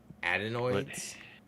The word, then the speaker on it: adenoids: Said Cage will eat anything and he will try anything, but with him and his, I don't know how to pronounce that word, Danny. Adenoids.